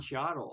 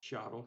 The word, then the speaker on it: Cheadle: And it's got Cheech Marin and Don Cheadle are in it. Cheadle? Cheadle, yeah.